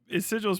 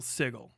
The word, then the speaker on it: sigil: like treat meter right so treat is sigil's pronounced sigil you only got a there's no one pronounces sigil sigle that's crazy I can't get too